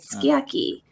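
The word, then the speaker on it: sukiyaki: syllables, it's like, like when you look at how skiaki is spelled, it's sukiaki, right? But you say skiaki.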